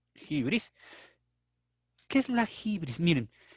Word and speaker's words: hybris: a la hybris bueno a jibril se pronuncia acción griega ahí tienen jibril y se escribe libres nosotros lo leeríamos así libres qué es la hybris